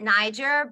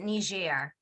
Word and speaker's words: Niger: up going to, so the Americans will pronounce it Niger, but the rest of the world will pronounce it Niger. Niger.